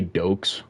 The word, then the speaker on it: Dox: Most people say Dokes, which that's like majority. Most people say Dokes. I have two friends that say Doxy. I say Dox.